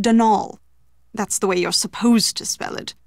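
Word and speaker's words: Dónal: Not Donald, mind you. There's no D at the end, so it's pronounced Denal.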